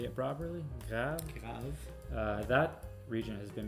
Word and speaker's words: Graves: Yeah, and the region we're sampling tonight is Grave, or Grave, say it properly, Grave.